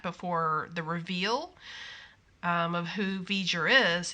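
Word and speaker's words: V'Ger: the reveal of who veger is he spelled it v-e-j-u-r exactly as it sounds so he he spelled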